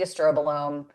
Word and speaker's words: estrobolome: But, that's the estrobolome, not produce produced at pronounced as estrobolomi, but it makes me laugh.